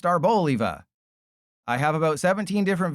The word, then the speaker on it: Arboliva: I wish it was Arboliva because it's an olive, but according to the company that made this, it is pronounced Arboliva.